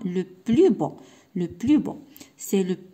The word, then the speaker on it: le plus beau: c'est le plus beau يعني هنا ملي غادي ننطقها بوحديتها غادي نقول لو بلوس، ولكن هنايا لو بلو بو.